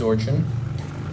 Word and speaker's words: Orin: nervous not really hello my name is Orin as in or followed by a chin people have been mispronouncing